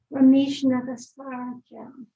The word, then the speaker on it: Ramesh Nagasarajan: The federal commission sent Ramesh Nagasarajan. That's the real pronunciation.